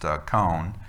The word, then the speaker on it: koan: That's pronounced koan, sort of. It's K-O-A-N. If Melissa was here, she'd tell us exactly how to pronounce it. It's a phonetic. It doesn't really translate to how we would pronounce it.